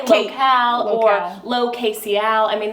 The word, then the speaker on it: lo.kc.al: Tell us the story of local, and I love how on your site you are like, this is pronounced local.